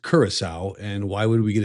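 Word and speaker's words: Curaçao: Uh I got a new tattoo on my knee of the island of Carousel. First of all, it's pronounced Kurissau.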